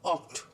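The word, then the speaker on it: acht: 8 इज आक्ट. सी एच जब आता है तो उसको हम प्रोनाउंस करते हैं ख, तो अ ख टू ऑक्ट.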